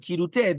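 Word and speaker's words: כרעותה: Therefore, the aleph sound at the end of bera does not affect the kaf to change it into a chaf. And we are to pronounce the word kirute.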